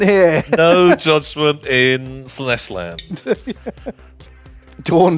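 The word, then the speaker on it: Dorn: no judgment in sles dor rhymes with corn dor does rhyme with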